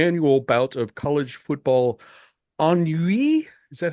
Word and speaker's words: ennui: bout of college football ennui. Is that how you pronounce that? Thanks Ennui. Ennui. Yeah, I was trying to Frenchify it, but it is the French word.